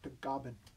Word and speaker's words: Tagaban: In the Philippines, it's pronounced Tagaban.